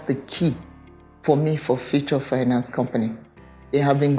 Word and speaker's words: Fewchore: h o r e right but it's actually f u t u r e in terms of the pronun pronunciation so it's future right so at the